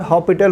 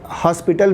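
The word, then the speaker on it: L'Hôpital: क्या हम उसमें एल हॉपिटल रूल, कुछ लोग हॉस्पिटल भी कहते हैं, एक्चुअली उसे हॉपिटल बोला जाता है, एस साइलेंट होता है, फिर भी एल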